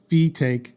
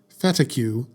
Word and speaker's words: Fetaque: to fet Sanders and it's pronounced fake Sanders not fetu like I thought sorry I just that's